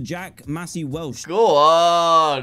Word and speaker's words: Jack Massey Welsh: he sent me name and everything and he pronounced it correctly Mr Jack Massey Welsh how far I've come from copying his Minecraft